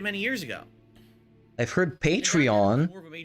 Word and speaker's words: Patreon: And so I adopted Patreon, or Patreon, or Patreon. Nobody calls it like that. No. Like you're a patron of the arts, Patreon.